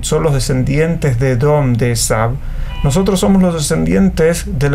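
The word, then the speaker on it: Esav: el edom original sa esab Esaú esau así se escribe en español pero se dice esab Entonces esab era el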